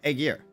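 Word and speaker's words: Aegir: a girl a girl it's pronounced age yeah that doesn't help me it's uh it's Aegis but the S is an R so a gear ah Beauty looks a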